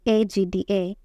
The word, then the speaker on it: AGDA: Look, I have an urgent message for you from AGDA. It pronounced AGDA as one word.